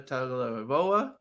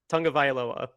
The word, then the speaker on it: Tagovailoa: So I don't imagine that they're going to go to Miami and beat Tua Tagovailoa. And you want to try that again? No. Tagovailoa? Is that how you say it? Tagovailoa.